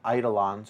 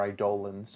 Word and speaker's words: eidolon: do something and uh eidolons or idolans depending on how you pronounce it are the summons for